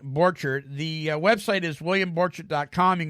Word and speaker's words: Borchert: You pronounce it like an orchard with a B in front of it, but it's Borchert, William.